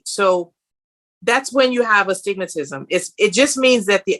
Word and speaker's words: astigmatism: So what is a stigma? I heard somebody the other day said that their son had a stigma. I think am I pronouncing it right? Well, it's called astigmatism.